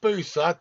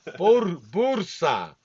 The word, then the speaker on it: Bursa: Not Busa, Dave. Bursa. Bursa. You got to say it like an ethnic. Like a boozer. Like Bursa. Like a boozer, mate.